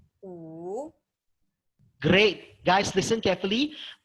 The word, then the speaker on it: 五: 五 Great. Guys, listen carefully. Amal did very well with third tone. It's very clear her pronunciation go down and go up.